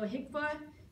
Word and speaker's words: HCFA: who um created it so hicka basically it's an acronym that you just pronounce hcfa um Healthcare financing agency